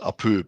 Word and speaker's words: Apoo: And it's the noise that giant Baba would make when he would chop someone.